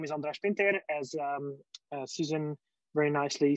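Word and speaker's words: András Pintér: right so about myself um my name is andres pinter as um susan very nicely said um she she learned to pronounce my hungarian name very nicely over the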